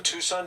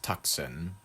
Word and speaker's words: Tucson: sent to the same Tucson TV station that received a ransom note through. By the way, Tucson should be pronounced tuxen. Tuxen. It just looks like tuxen to me.